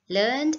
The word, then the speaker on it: learned: need to understand is learn when used as a verb the pronunciation is learned we don't add an extra syllable right whereas if we